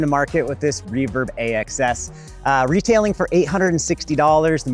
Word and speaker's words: AXS: Reverb AXS, that's how you say it.